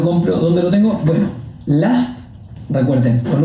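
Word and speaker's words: Lust: Last. L U S T. Se dice con a, pero se escribe con u.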